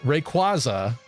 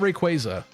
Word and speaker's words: Rayquaza: that Pokemon's name is a combination of Ray and quazar right so a lot of people say Rayquaza but it's quazar so isn't it Rayquaza is it not Rayquaza I think it's supposed